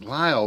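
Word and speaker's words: Lisle: So if you look at it, and it's Lyle, but it's spelled L-I-S-E. Yeah, it's L-I-S-L-E. Yeah.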